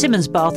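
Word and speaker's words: Simonsbath: you say that actually it's pronounced simmons bath but it's spelt simon's bath yeah all right okay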